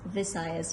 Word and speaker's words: Visayas: Visayas or Bisayas? Visayas with the letter V.